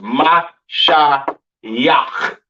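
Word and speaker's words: Mashiach: This character blends these two sounds together to make it yak instead of yaka. Right. So it's ma sha yak.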